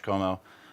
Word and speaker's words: Comeau: way it W Como my last name is French so it's spelled c om tau very cool and are